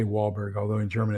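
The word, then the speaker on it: Walburg: in Texas we say wallberg although in German it's volberg uh W's in German are pronounced V like a V and uh a v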